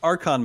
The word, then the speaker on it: Archon: Let's move on to Archon modes. And I guess, first of all, am I pronouncing that correctly?